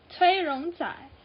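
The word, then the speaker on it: 崔荣宰: The J part is turns into zai. So Choi Yongjae's Chinese name turns into Cui Rong Zai. So that's third sound.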